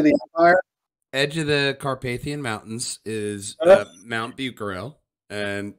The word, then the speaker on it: Carpathian: the carpan mountain next to the what mountains Carpathian there you go yeah is that how you